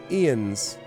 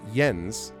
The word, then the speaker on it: Jens: and it's pronounced i-e-n-s ian's again like if it was y like jens that's fine jens like yarl for instance but ian's like they're pronounced they're not pronouncing it yens with a y sound it's e ends